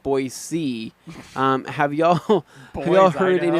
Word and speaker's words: Boise: a package yesterday and they pronounced it boys and not Boise have y'all will heard